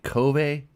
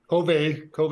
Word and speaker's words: Kove: have Mike Johnson on who is a Kobe and I hope I'm saying this right Factory Rider or it's just Cove Cove is correct yeah that's how they say it okay so I was